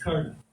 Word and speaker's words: Karna: His name is Karna. Some of us will say Karna. Right? Sanskrit word, you have to pronounce the last A in the syllable. Right? His name is Karna.